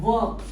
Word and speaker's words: work: that like the word work okay I've heard so many people uh speaking work work work work work you know the r the r is silent work work work okay